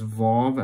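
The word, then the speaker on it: וו: go that's five volv i'll be pronouncing the next one as vav as a v some people pronounce it as a w however you like but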